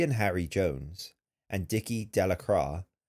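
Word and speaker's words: Delacroix: Bobby and Harry Jones and Dicky Delacra, the villagers pronounced this name Delacroy, eventually made a great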